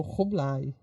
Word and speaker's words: Kublai: com exceção de K, ele, na verdade, é aspirado. Então, o Kublai seria tipo Rublai.